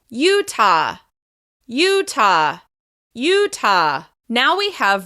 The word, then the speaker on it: Utah: Once again, this state is stressed on the first syllable. Utah.